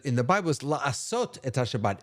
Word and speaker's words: Shabbat: Shabbat. Thank you. And I mispronounced it.